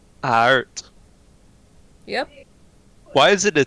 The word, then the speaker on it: aard: I am Dutch, so I know that Aard means earth. Ard. Yeah. Ard. Aard, Alright. as Aard. we would say it in the Dutch accent. Aard. Art.